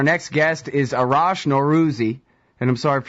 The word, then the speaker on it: Norouzi: ah there you go Arash no Ruthie but nor rozier that right perfect excellent poor guy you got